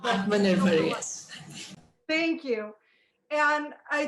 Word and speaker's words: Atmanirbhar: And I can't pronounce the name of this, what this thing is called. Atmanirbhar, yes.